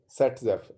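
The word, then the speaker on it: Saytzeff: This statement is known as Set-Zepf rule. Okay, it is known as Set-Zepf rule. It is known as Set-Zepf rule. Pronounce it as Set-Zepf.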